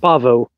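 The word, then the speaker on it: Paweł: Is it Pavel or Pavel? It's Pavel. Yeah, Pavel. Can I call you Pavel anyway? Yeah, well, I insisted on you calling me Pavel because it's like the closest pronunciation for somebody that doesn't know Polish, so yeah.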